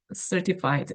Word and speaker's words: certified: 기억이 나죠 has certified 여기 t 발음 약화시켜서 ctif certified cied 발음 하는게 좋겠네요 ctif 이상하다 certified certified네